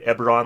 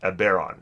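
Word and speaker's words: Eberron: the bear arm content I think I called that ever on last time and people were telling me that it's pronounced a bear on so we'll get rid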